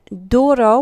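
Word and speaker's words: duro: very similar in Spanish the word Doro actually means hard and Doro with that D at the beginning we're going to pronounce it like we do in English however um when it comes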